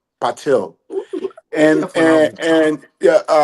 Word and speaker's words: Patil: His name is spelled as Pratibha. Last name Patil. Patil.